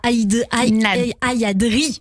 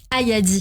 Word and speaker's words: Ayadi: Cette pièce était quand même jouée, j'ai envie de dire, avec Camille Cotin et d'autres acteurs, dont Naïdra Ayadri, je vais bien le prononcer. Ayadi, je le dis bien, a obtenu donc le Globe de Cristal de la meilleure actrice.